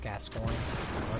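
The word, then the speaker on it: Gascoigne: on it's very good and no one can pronounce his name except for me his name is father gascoin people Call Him Father guacamole uh but we're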